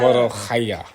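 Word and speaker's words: molokhia: Morokhaya.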